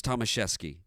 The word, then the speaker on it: Tomaszewski: rhyme with Heisman but the true polish pronunciation was thomashefsky that was clarified by his dad